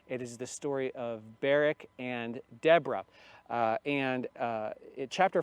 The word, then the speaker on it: Barak: You may have heard it in the past pronounced as Barak. But when we think of the name Barak in our country and in our day, it comes from the Hebrew word barakah, which means blessing.